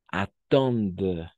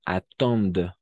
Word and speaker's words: attendent: où beaucoup de gens attendent hasta la D, porque ENT es mudo como aquí mange igual, ¿no?